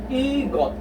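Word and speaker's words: 이것: You read this S or siot as T, since this is the last part of the syllable. 1, 2, 3. Last part, it will be pronounced as T.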